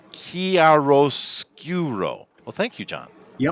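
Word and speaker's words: chiaroscuro: go with that judge Allah says it's pronounced chiaro-scuro well thank you John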